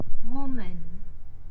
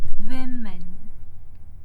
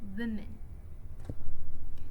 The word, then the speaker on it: women: So, for my second word, which is women, the wrong pronunciation would be woman. Meanwhile, the right pronunciation is women. women So, woman is pronounced as women, not woman. Again, the stress is on the first syllable, which is Wim.